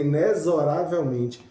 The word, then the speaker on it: inexoravelmente: Aquela música famosa, aquele forró que diz, né, que inexoravelmente chega lá. Na verdade, a palavra, a pronúncia certa da palavra é inexoravelmente, mas a gente fala errado, né?